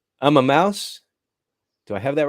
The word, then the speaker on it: Immauss: the owner and CEO of make sure I pronounce this right I'm a mouse do I have that right I am Mouse yes I am Mouse Technology Solutions thank you